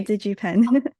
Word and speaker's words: DigiPen: Adrian is with DigiPen Academy. Did I pronounce that correctly? Yeah, DigiPen.